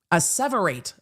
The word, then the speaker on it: asseverate: Asseverate. I missed the pronunciation on that one.